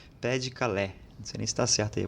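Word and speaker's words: Pas-de-Calais: pai de Calé é que se escreve na verdade pais de calais mas em francês seria pé de Calé você não está certo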